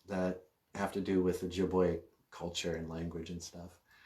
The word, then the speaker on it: Ojibwe: then when i learned ojibwe i learned that the o is always long like in ojibwe you don't call it ojibwe o's are long o's and uh so my